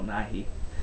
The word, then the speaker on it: Nighy: Bill Nye is a science guy. Bill Nighy is the British badass. I have British subscribers. I'm sure they'll correct me if I said his name wrong, but I believe it's Bill Nighy.